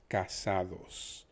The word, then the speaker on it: casados: that we're used to the ca is probably one of the most commonly pronounceable sounds by most english speakers and they don't even know it because most people know the word kaka which usually means poop and that basically is c-a-c-a and that is the proper pronunciation of the ca the essay then as a result of the s being a becomes casa and most people are familiar